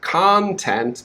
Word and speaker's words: content: say the second word content but they say content and it's very confusing okay so the second word the stress is on the first syllable khan so you need to